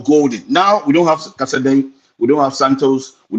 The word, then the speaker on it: Casadei: I don't know how to pronounce that boy's name. Casadei.